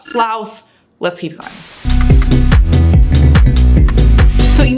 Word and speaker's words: Flaus: was pronouncing it like floss floss floss floss floss or floss but it actually should be pronounced flous similar to flour so I got that